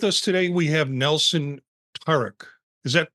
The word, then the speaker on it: Taruc: It's actually Taruc, but the way you pronounced it was fine too.